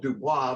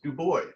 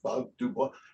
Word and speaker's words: Dubois: Well, I learned Bob, and it's actually spelled Dubois, but he says Du Bois, and so it's one of those things where I want you to know how to say it. So when you do my funeral, it's not Bob Dubois, Dubois.